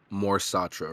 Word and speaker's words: Mor Satra: Michael, just to get this pronunciation correct, it's Mor Satra, right? That is correct.